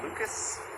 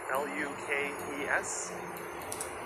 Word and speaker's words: Lukes: Nathan Lucas, L-U-K-E-S. You'll hear a lot of people saying Lukes, including commentators, or Pages.